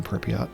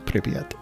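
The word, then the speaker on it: Pripyat: Like for example I don't say um the Chernobyl power plant is in Pyot. I say Piet.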